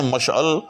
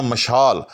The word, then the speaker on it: مشعل: ہیں با ہنر اور با کمال، راہ میں مشعل جلاتے ہیں تو کہتے ہیں مشال۔ ہاں یہ بھی ایک غلط العام ہے کہ